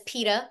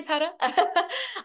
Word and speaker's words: Petra: So we were pronouncing it as pita, but it's open to interpretation. You can say peta.